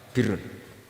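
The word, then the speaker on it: بِرّ: Ya kalau di isim fa'ilnya umumnya guru-guru kita baca barin, tapi untuk masdarnya untuk kebaikan bacanya apa? Birun. Nanti kamu protes, oh barun itu daratan Gus, kalau birun itu kebaikan.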